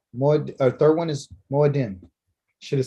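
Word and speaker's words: מועדים: Second one is Moed, or third one is Moedim. Should have said Shalishi. The Shalishi? Moadim.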